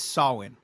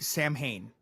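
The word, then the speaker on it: Samhain: He is so the correct way to say it is sawin but everybody Sam Hayne.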